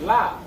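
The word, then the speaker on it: לב: That word, when you go into that word heart, in the Hebrew language is pronounced lav.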